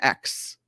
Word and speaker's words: X: collection of letters but they call the sun X is what they say that's how you say it I can't even spell